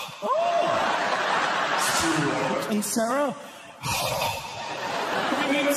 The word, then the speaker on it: Stewart: Like Stuart with a W is pronounced like this. Stuart. Without a W, Stuart.